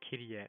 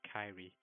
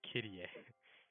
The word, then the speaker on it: Kyrie: So by the way, Rose also pronounced her name as Kyrie, not Kyrie. So I keep saying it wrong. It's Kyrie.